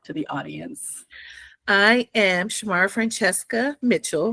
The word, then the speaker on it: Shmarafrantcheska: the audience I am Shamar Francesca Mitchell shmar francheska is one name um oh my I